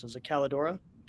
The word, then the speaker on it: Kaledora: I don't want to mispronounce it. Is it Calidora? Calidora.